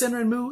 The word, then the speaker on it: Sanrenmu: This Sanrenmu is an older knife, and you notice I'm saying mu instead of mu.